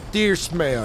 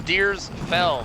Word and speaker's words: Deersfeld: It's Deersfeld, F-E-L-D. Deersfeld. Deersfeld. I like Deersfeld.